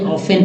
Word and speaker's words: often: बहुत सारे लोग पढ़ते होंगे आसानी से, कुछ लोग नहीं पढ़ पाते होंगे, तो मैं बताऊं इसे ऑफेन पढ़ते हैं।